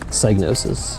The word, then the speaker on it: Psygnosis: Does not look like Lemmings to me, but that is some lemons, as they show you how to pronounce it. Psygnosis.